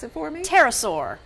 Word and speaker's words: pterosaur: So this one, pronounce it for me. Pterosaur. Pterosaur.